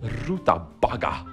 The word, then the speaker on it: rutabaga: And to that we're gonna serve a kålrotpuré, rutbagga. Is that how you pronounce that shit? Rutabaga.